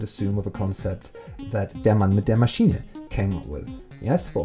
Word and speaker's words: Der Mann mit der Maschine: This is how it's pronounced. Der Mann mit der Maschine, which is Matthias Kettner.